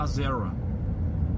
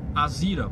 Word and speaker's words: Azera: Porque segundo a nomenclatura nos Estados Unidos se fala Azera, tá? Só que aqui no Rio Grande do Sul, no Brasil, se fala Azira, porque já a própria